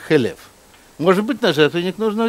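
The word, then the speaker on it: חֵלֶב: Или, значит, что нужно на жертвенник ложить хелев, да, жир. Но в Торе нет огласовок. И халяв, молоко, пишется точно так же, как хелев.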